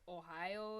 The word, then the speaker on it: Ohio: Ohio is how it's said. Sounds better. I think everyone else is just using too short of vowels.